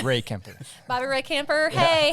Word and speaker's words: Rehkemper: do that yeah yeah i'm sure ray kemper okay i was right it's one word it's not bobby ray it's ray kemper bobby ray camper hey